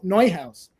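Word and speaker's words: Neuhaus: I don't know how widespread they are outside of New York City, but you go to Noi House and you get a chocolate they have called a ceret.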